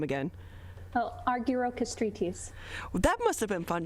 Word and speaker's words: Argirokastritis: evelyn tell us your last name again oh arguero castritis that must have been fun trying to learn how to spell that when you were growing up oh actually